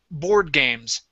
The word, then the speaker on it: board games: Okay, now here you had said board games, stressing the word games. This word, these two words together are pronounced board games.